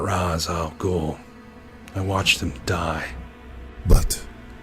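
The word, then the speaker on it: Ra's al Ghul: there's somebody he must meet now am i pronouncing this right mr raz al gool you're not rise oh cool i watched him die but his racial goal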